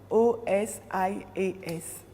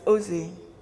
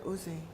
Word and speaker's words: Osée: Osias, pardon, it's O-S-I-A-S. Merci. Moi, j'ai osé. Spell it. You sure it's... It's not why it's not in your No, Bible. it's not Osias, it's Osée. It's a prophet Osée, yeah?